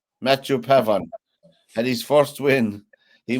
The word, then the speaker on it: Pavon: this chap from France mat pavon well the N is silent for people who like speak French but I'm not French so it's Pavan Matthew Pavan and his first win